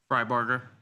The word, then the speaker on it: Fryberger: Uh Fryberg is with him. I'm Beac here in San Francisco. am I pronouncing your last name correctly? Fryberger. Yeah, it's phonetic.